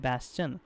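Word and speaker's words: bastion: तो सीटाडेल का similar word कास्टल, कास्टल का मतलब भी होता है किला, स्ट्रॉन्ग होल्ड, और बैस्चन, इसको पढ़ते हैं बैस्चन।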